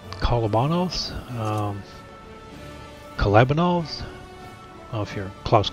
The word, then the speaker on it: Kolobanov's: my fifth oh how do you want to pronounce kala Bono's collabing all's of your Klaus Kellerman it's club and alls but in a nice added bonus the Pascucci